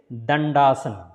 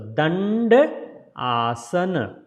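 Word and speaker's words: Dandasana: So first D, tongue between the teeth, the, and second D is pronounced as a D, tongue touching the hard palate.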